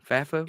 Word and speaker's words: FAFO: FAFO? It is. Fafy? FAFO. Yeah, FAFO. Here's what I want the audience and maybe to convince other commentators of this, is that we can have FAFO.